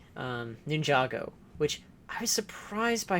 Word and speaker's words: Ninjago: the example like um Ninjago which I was surprised by her pronunciation of all these terms ninjo cuz she actually said Ninjago in that pronunciation in the pronunciation I'm I am saying right now okay I'm let's go